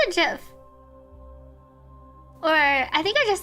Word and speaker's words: GIF: I pronounce it JIF.